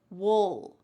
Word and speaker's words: we'll: This is the clear pronunciation. We'll. But when we're speaking relatively fast in American English, we often reduce this and it just sounds like wool. You're almost swallowing that final sound.